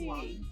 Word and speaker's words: Wiley: Is it Wiley? Did I pronounce it right? It's Wiley.